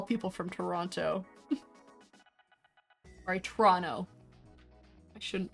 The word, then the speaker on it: Toronto: That's one of my favorite Canadianisms to point out is that a lot of Canadians just like won't pronounce the second T in anything.